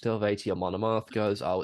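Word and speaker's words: Eluveitie: I think Amon Amarth are on there, Elvati are on there, and they all like go like, "Oh, Elvati, you don't pronounce the U, it's just Elvati."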